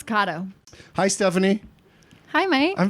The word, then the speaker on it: Kato: Oh, I'm Stephanie Kato. Oh, it's pronounced Kato? Did you think it was Kato? I've always thought it was Kato.